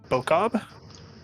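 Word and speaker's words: Boccob: that's really risen to prominence is i'm gonna mispronounce this terribly bokob b-o-c-c-o-b uh ironically he is the god of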